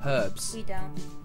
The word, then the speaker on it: herbs: beetroot beetroot herbs herbs we pronounce the h herbs arugula rocket delicious rocky